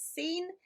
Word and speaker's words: scene: word for the week which is seen so it's spelt with our spelling rule at the start the SC making this sound and then we've got a split digraph for the e sound with the N in between so it is quite